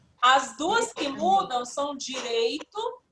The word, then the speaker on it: direito: Aqui nós temos a palavra direito. Direito. Se não pronunciasse o I, ficaria como, Arthur? Direto. Completamente diferente significado, não é?